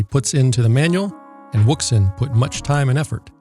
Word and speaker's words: Wouxun: capable cb radio available from wookson pronounced ocean or wookson so when you purchase